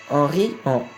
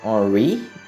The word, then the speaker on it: Henri: Henri or Henri, no matter how you want to pronounce his name. It's a French name, so I'll pronounce it in the French way because I'm French.